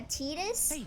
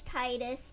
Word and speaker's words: Titus: twe shut up twe to me it makes more sense that it sounds like tide yeah exactly yeah tetus no thank you it's Titus sorry chill out ATO El